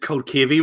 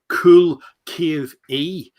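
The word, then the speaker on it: Culcavy: I hope you're saying that right, because Frank Hearn is saying you said Culcavey wrong. It's said Cool Cave E. You're not from County Down. You're saying it wrong.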